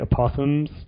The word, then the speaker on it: Aposimz: And basically, within 1,000 years of the Sidonia's launch, I think it's called the Opossums, or it's spelled Aposimz, and that was the